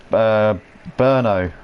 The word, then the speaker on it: Brno: line sir Matty cakes saying is burn oh okay right burn oh it's just burning rays and Jenna I'm sorry for the pronunciation wrong I always thought it was Brno and then I heard everyone calling it Bruno so I jumped on